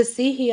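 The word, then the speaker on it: Sidhe: The Sihi are very, very Seelie, if you want to call them the Seelie, whatever. I prefer the Sihi because it's how it's meant to be pronounced.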